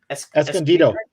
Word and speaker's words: Escondido: Escondido.